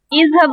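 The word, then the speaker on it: اِذْهَبْ: اس کا مطلب ہے جو حمزہ ہم خود لگاتے ہیں ہم اس پہ زبر نہیں بولتے، ہم یا زیر بولتے ہیں یا پیش بولتے ہیں.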